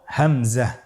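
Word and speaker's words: همزة: পরবর্তী হরফটির নাম হলো হামজা পরবর্তী হরফটির নাম হামজা হামজা হরফটি উচ্চারণের ক্ষেত্রেও বারিক করে উচ্চারণ করতে হবে এবং এখানে টেনে পড়া যাবে না দ্রুত পড়তে হবে আপনারা আমার সাথে বলুন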